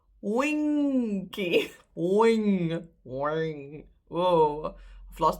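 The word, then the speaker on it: wingkie: So there's no D. You don't pronounce the G. You go for wing and then ki.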